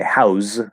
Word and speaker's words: house: House is spelled with an S and it's an S sound.